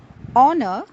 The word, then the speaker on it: honor: plenty of words where the letter H is not pronounced at all. It remains mute. Now, some of these words are commonly used in our daily conversation, such as our, honest, honor, a.